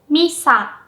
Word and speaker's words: Misa: So, I pronounced my name like Misa, right? Maybe you can tell that Mi is pronounced with a high pitch, while Sa is pronounced with a low pitch.